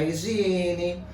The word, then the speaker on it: higiene: expliquei para vocês que a letra h no início da palavra ela não tem tô nenhum ela apenas faz parte da escrita daquela palavra então quando pronuncia A gente não escuta o som daquela letra Eu dei um exemplo